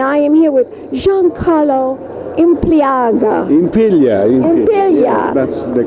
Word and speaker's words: Impiglia: at Arthamptons, and I am here with Giancarlo Impiglia. Yes, that's the correct pronunciation. Impiglia.